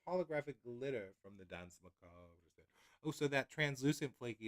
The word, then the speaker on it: Macabre: I mean, I'm over pronouncing it, but Dance Macabre. Macabre. Macabre. I think. Dance Macabre. Yeah. Macabre. There's a little flick of the R, I think, but it's very tiny.